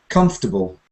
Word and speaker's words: comfortable: it right out so some people say uh comfortable has four syllables d d but if you try to sound three comfortable comfortable you automatically make a super unstressed syllable comfortable violence not violence violence